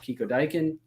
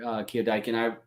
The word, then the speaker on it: KioDieKin: So I just want everybody to check out the link down below to KioDiekin. KioDiekin. I'm going to say it right at some point and stop putting an extra K in there.